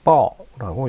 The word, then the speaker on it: 抱: 중국어로 뻐라고 읽힙니다.